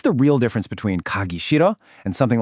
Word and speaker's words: 싫어: First, with the word 싫어, that H at the beginning is basically silent. You don't really pronounce it, so it sounds a lot more like 싫어.